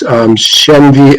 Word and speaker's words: Shenvi: writings already on, and I apologize if I mispronounce this, Shenvi Apologetics .com, is that right?